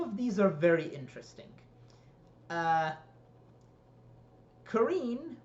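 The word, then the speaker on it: Kerene: Kareen, or Kareni, I believe they pronounce it in the show, is not very interesting.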